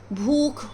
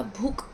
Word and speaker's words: भूख: आ रही है भूख जबकि भूख होता है ख की साउंड आनी चाहिए लास्ट में है ना तो ये क्या